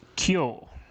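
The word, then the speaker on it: 今日: So the way they pronounce that in Japanese is kyo, which is a bit of the own readings of those kanjis.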